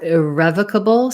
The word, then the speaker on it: irrevocable: have a question about whether irrevocable sounds like revoke and it doesn't so revoke has the o sound and a schwa here revoke second syllable stress but irrevocable is stressed on the